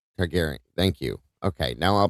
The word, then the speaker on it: Targaryen: I'll never be able to How do you pronounce this, Kim? Oh, Daenerys. Daenerys. And the last part. Targaryen.